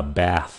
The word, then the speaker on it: bath: Chữ này là bath. Chữ kia là bathe. Nó phát âm nó cũng giống giống nhau.